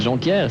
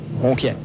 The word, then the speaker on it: Jonquière: Ben, Jonquière, c'est bizarre parce qu'ils prononcent Ronquière.